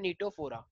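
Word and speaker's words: Ctenophora: तो मेरे पास एक नया फाइलम है जिसका नाम है नीटोफोरा, सी इसमें साइलेंट है।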